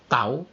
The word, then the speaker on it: tau: Tau, ini bacanya tau.